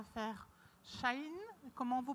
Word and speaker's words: Shein: Parce qu'il ne shine pas. Hein. Il ne shine pas. Non, il ne brille pas.